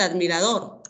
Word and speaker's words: admirador: Por ejemplo, en el caso de admirador, está en la última sílaba.